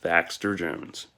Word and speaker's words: Thaxter Jones: That's how you say his name, Thaxter Jones.